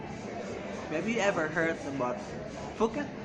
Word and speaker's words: Phuket: Have you ever heard about Phuket? It's not spelled Phuket, but it's spelled Phuket.